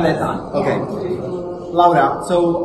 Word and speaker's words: Bretan: We're here with Laura Breton. It's well pronounced. Laura Breton. Breton, okay.